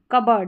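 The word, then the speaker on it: cupboard: कबर्ड। यहां पर पी थोड़ा सा हल्का सा साइलेंटली बोला जाता है।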